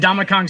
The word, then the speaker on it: Ndamukong: His first name is pronounced in Donkey Kong. And Donkey Kong's and Donkey Kong, a boy named Sue. A boy named Sue, yeah. And Ndamukong Suh.